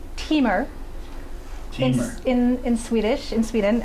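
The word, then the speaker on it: Timmer: first elves that i'd mentioned um it is pronounced teamer in in swedish in sweden um and it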